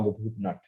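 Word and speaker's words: Bhoop Nat: particular rag called R Boop nut right it is spelled b Boop is b h o o p and space N8 nut right it's a combination BL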